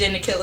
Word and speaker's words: Nakylla: ll a killer okay because people always pronounce my name I ever got a mama don't call it Kyla for them like hey you know to me so yes these in the killer so they can find